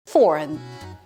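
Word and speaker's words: foreign: 겨 먹었지만 penalize penalize foren foren 외국의 뜻이죠 foren foren 이렇게 발음을 합니다 인이라고 잘못 발음하는 경우가 있어요 안 돼요 안 돼 린 아니고 foren foren이라고 하셔야 돼요 mus must 콧수염을 말합니다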